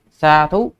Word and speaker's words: sādhu: status đấy cái từ nó là như vậy Xa thú dh chưa phải là Th i ý Thì